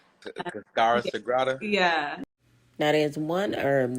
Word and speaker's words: Cascara Sagrada: Casara Sagrada. Cascara Sagrada.